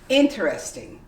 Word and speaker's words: interesting: common way would be interesting you completely omit the e and this becomes interesting